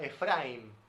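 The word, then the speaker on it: אפרים: de Naciones Efraín o en hebreo que se pronuncia Efraín sí que significa doblemente fructífero y de ahí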